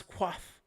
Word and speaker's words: coif: Pronounce quaff.